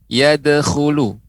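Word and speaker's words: يَدْخُلُونَ: Jadi yadkhulu. Coba nek diucapkan yadkhulu.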